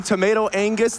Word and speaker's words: tomatoangus: I'm tomatoangus. The G is silent.